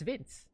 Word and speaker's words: Vince: apparently our translators in the chat say his name is Binsu or Vince. So that's Vince.